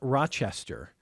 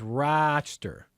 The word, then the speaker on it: Rochester: A photojournalist who told me that it's not Rochester. He says it's about a syllable and a half. It's Rochester. But it's a long says it's mostly like most of the emphasis on the ra, and then it's like it's just a blink of an eye.